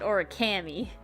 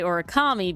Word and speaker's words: Orikami: one is Orikami, but I always said it Orikami because it was Ori and Kami, 2 words. But then people who just read it would say Orikami because it's like origami, which definitely is like